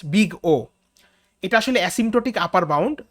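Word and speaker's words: Big O: এটা দিয়ে জেনারেলি কোনো একটা অ্যালগরিদমের ওয়ার্স্ট কেসকে ডিনোট করা হয়, অ্যান্ড ইট is pronounced as বিগ ও।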